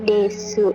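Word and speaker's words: です: dekat bisa banget nah sebenarnya desu ini dibacanya desu atau Des sih sebenarnya dua-duanya bisa tem deci pada dasarnya seharusnya dibacanya adalah desu Cuman karena orang Jepang itu Ngomongnya cepat banget unya jadi enggak kebaca ya jadi Des aja gitu jadi dua-duanya pun boleh banget Nah itu kan tadi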